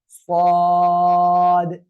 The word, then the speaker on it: صاد: صاد ওকে, খেয়াল করবেন এই অক্ষরটা কিন্তু একটু মোটা আওয়াজে পড়তে হবে, ঠিক আছে। সদ, সদ, ঠিক আছে।